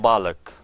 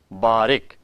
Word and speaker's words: barukh: times people would say balik which is incorrect barukh meaning is the same but the word here is barukh children we are your